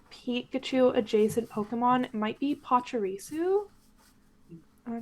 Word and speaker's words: Pachirisu: And I think my favorite Pikachu adjacent Pokemon might be Pachirisu. Am I pronouncing that right?